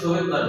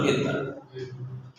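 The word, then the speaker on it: Svedberg: অনেকে সহেতবার ভার্ব বলে সোহেদবার এস আছে তো তাই কিন্তু আসলে উচ্চারণ হলো ভেদ বার।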